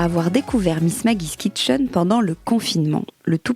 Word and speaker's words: Miss Maggie's Kitchen: Eloïse bonjour Alors comment est-ce que je je prononce bien Miss Maggie kitchen Miss Maggie's kitchen com comment dit le nous Miss Maggie's kitchen VO ouis alors on a dû te poser